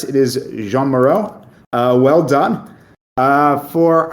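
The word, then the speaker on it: Jeanne Moreau: please even more because I think you pronounce it Jean Moro but I'm not sure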